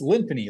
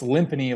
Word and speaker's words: Lymphony: thing that was like oh it's limpiny like it's a lymphony like Symphony and it's like no it's limpingy like timpani and so when it came time to make an LLC it's like yeah let's go rhymes with timpani so it uh it